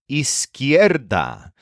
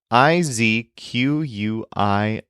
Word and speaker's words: izquierda: And then the word for left is izquierda, which is a tricky word to learn. It's spelled Izquierda.